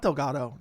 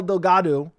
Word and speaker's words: Delgado: No, it's not Delgato. Delgato. Delgato. I think I've been saying this wrong the entire time. I don't know why. I just looked at the last name and just been brutally mispronouncing it.